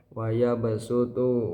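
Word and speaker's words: وَيَبْصُطُ: Yang ketiga yaitu lafaz wayabutu. Wayabasutu dibaca wayabutu. Waya basutu. Huruf shad diganti dengan sin.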